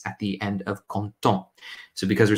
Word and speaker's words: contents: at the end of content. So because we're saying we are happy, we say nous sommes contents. The pronunciation, though, is the same if it were content with an S or content without an S.